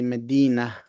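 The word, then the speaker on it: مدينة: And when we pronounce a word, we pronounce with the ta marbuta as a ha. So we say Medina, although it is a ta marbuta.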